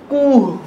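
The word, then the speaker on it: کوه: এর পরের বর্ণ উ, এটি বুলান দীর্ঘ, উ কু, এর উচ্চারণটা ভালোভাবে লক্ষ্য করেন, এটিকে বলা হয় কুহ, কুহ মানে পাহাড়।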